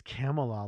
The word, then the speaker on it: Kamala: I think it's Kamala, like Camelot.